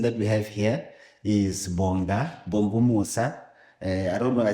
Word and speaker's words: Bongumusa: But without a waste of time, what the person that we have here is Bongumusa.